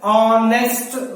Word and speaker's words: honest: And next one is an is used before a noun beginning with a word where h is mute, where the h word is mute.